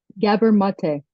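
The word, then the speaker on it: Gabor Maté: The Myth of normal by how do you pronounce the author's name gabber mate gabber mate one of your influential reads so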